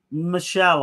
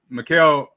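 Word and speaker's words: Michèle: Is it Michelle or Michaeli? Michaeli Mercier. Michelle, I would say. Michelle. Okay, because it's got a little something over the E on her name.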